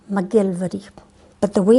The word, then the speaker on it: MacGillivray: McKeiver McDonald again and mcgillivray no we pronounce that mcgillvary but the way it's